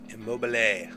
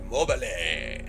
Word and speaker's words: Immobile: Immobile. It's the Italian, man. You gotta really pronounce the E. You know, Immobile.